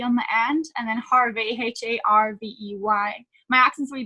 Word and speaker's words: Harvey: So it's being_Bobbie Harvey. So with an IE on the end, and then Harvey, HARVEY.